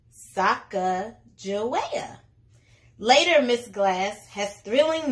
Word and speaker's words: Sacagawea: has a fancy name Sacagawea can you say it like this Sokka Joetta later miss glass has